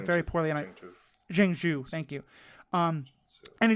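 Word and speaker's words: Zheng Zu: explaining that Shang Chi's father's real name is zenu I'm probably pronouncing his name very poorly jenu thank you um and he just discover the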